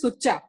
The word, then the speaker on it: sucha: to tell you that actually it is sucha the correct pronunciation because it is a punjabi word ah okay so in